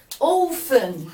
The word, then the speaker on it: often: I often, take care, the T is silent.